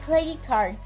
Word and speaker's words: credit card: a combination in which we don't need to pronounce the letter t yes the letter t is automatically deleted so you need to say credit with the ca and then card like credit card yes trading card okay